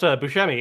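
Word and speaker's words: Buscemi: connected to uh Steve Busmi's room, please?" He's like, "Oh, just so you know, it actually is pronounced Bushmi."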